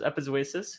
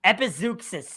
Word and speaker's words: Epizeuxis: Epizeuxis is the official pronunciation. There's no K. There's an X. The X is pronounced like a K in a way.